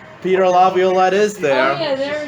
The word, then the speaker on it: Laviolette: How do you say Laviolette.